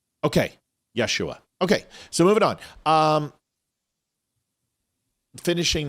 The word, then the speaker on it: Yeshua: Okay, Yeshua. Okay. I thought the H was silent in Hebrew. No, the J is silent. Okay, Yeshua.